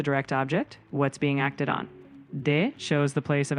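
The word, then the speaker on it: を: O marks the direct object, what's being acted on. De shows the place of action or means. No shows possession or relationship. Ni marks time or direction. And yes, wo, often pronounced o, also marks the object, similar to o.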